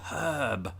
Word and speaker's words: herb: know about us brits we often pronounce the word h as h we put an h on the word h which there isn't one actually weirdly enough this is getting all confusing but it's herb herb although we don't pronounce the r in in herb as brits either unless you're from the west country i'm from the west